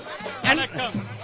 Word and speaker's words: Vanakkam: Vanakkam.